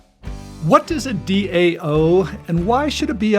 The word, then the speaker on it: DAO: it wrong already okay no worries it is Dao definitely how it's spelled and it is indeed an acronym and